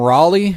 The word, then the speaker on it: Raleigh: I'm calling him Raleigh because Raleigh. That's the capital of North Carolina, and it's spelled that way.